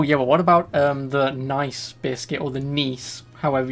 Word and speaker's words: Nice: special always telling you it's pronounced nice that's why i'm that's why i just said those nice or nice biscuits because i want to pronounce it nice because it's it's n-i-c-e and it's a nice biscuit but i want to